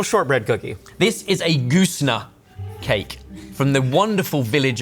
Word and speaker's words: Goosnargh: And is there an R in that word? I'm gonna make me spell it now. Goosnargh, Goosna. And it is from... I asked if there was an R, but there's the G and an H. There's a G and H on the end.